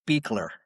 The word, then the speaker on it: Beechler: old, named Lindy Sue Beechler. I think that's how it's pronounced. Is that right, Chris? I think it's Beekler. Beechler. Okay. Beekler.